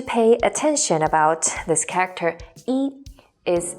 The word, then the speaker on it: 一: attention about this character 一 is its pronunciations. To be more exact, its tones. When 一 is used as a numeral in sequence, such as when you're counting, it is the first flat tone.